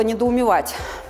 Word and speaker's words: недоумевать: На примере второго глагола «недоумевать» мы с вами разберем сразу две важных вещи. Во-первых, запомните, что если... Вот глагол «недоумевать» отличается от всех предыдущих тех, тем, что в нем «ва» ударное, «ва» под ударением.